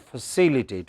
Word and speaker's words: facilitate: Non-stressed syllable would become very weak. We won't say fa, we would say just fa. So, it is facilitate.